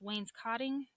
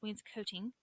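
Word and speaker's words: wainscoting: in the middle wayne's coating looks like it's pronounced wayne's cotting but it's wayne's coating which is what you use around the bottom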